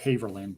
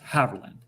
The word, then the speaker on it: Haverland: I always want to say Haverland, but it's Haverland.